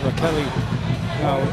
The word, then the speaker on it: Raquel: Yeah, they call Rastelli Rocky for short. Raquel, they tell us she pronounces her first name.